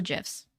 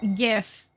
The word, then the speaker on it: GIF: either what's a gif GIF I'm sorry I'm sorry points have been assigned or subtracted accordingly I'm sorry I don't say okay I don't say GIF I don't like like the hard G sound which isn't really I